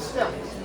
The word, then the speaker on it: stele: The Manasseh Stele really is pronounced still. I call them steles.